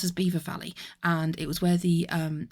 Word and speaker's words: Belvoir Valley: well, you would pronounce, if you read it as, like, phonetically, it would be Belvoir Valley, but it was actually otherwise pronounced as Beaver Valley, and it was where